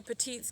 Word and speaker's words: Petites Gap: And we're going to Petites Gap, which is kind of a cute story. The guy it was named after was P-O-T-E-E-T, Petite, but it's spelled P-E-T-I-T-E-S.